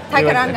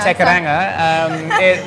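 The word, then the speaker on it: Te Kairanga: Starting off with TK, or how do you properly pronounce it in New Zealand? Tekaranga. Tekaranga.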